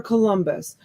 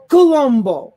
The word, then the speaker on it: Columbus: his name christopher columbus his name is not christopher columbus you pronounce it christopher columbo he used to get